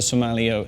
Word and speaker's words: sommelier: The way to say it is sommelier, and if you can say the word so, and you can say the word yeah, and you hold the L, so you go sommelier. Okay, can you do that? Sommelier. Okay. In New Zealand we might say sommelier, and that's fine, but I like to say it the American way, sommelier. And just hold the L a little bit is all you need to do.